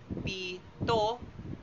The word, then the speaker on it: pito: At ngayon ay makikita naman natin ang larawan ng seven sa Ingles at ang tamang bigkas nito ay pito. Pito na nilalapatan ng diin sa ikalawang pantig.